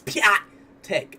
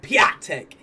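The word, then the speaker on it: Piątek: You see that little comma on the bottom of his A? Like, no human being can pronounce that. It's Piatek. Piatek.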